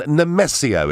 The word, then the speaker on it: Nemesio: Now, we're going to Maidenhead and Nemesio. Is that the right pronunciation? Yes, that's right, yes.